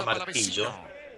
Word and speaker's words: martillo: Bien, si analizamos la palabra martillo, el acento recae ¿en qué sílaba? A ver, martillo. Recae, ¿no es cierto?, en la I. Tiene 26 años, nació el 6 de octubre. Claro, en la penúltima sílaba, en la I. ¿Está? Martillo termina en vocal O. Pero el acento no recae en la vocal O. El acento recae en la vocal I.